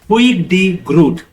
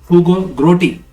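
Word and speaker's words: Huig de Groot: The father of international law is Huig D. Groot. इनका नाम है Huig D. Groot, and because it is a very crazy pronunciation, so English-speaking people say Hugo Grotti.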